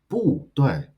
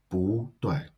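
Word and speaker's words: 不对: And when 不 comes before another word or syllable with a fourth tone, it should change to second tone. So rather than 不对, it should be pronounced 不对.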